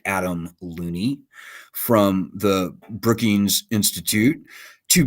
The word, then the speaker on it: Looney: So it's hugely dishonest for this guy, Adam Looney.